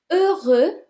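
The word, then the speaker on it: heureux: means beautiful number four over over the X is silent over and the feminine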